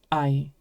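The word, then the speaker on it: あい: A and E together become the word ai.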